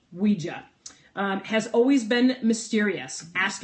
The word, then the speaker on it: Ouija: is what they printed the Ouija board pronounced w ee we dash J a wee gia has always been mysterious